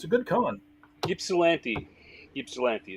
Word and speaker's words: Ypsilanti: Ypsilanti is how that's pronounced.